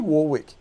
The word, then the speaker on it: Warwick: is at warrick farm this weekend it's actually warwick do you know that all this you say warwick it's spelt warwick w-a-w-r w-i-c-k don't murder the english